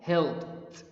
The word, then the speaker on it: helped: the as t sound help ends with p sound we if we add d to it to make it past we pronounced help helped helped skip you know skip